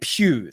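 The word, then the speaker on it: Puig: So David Pugh, that's how you say his name.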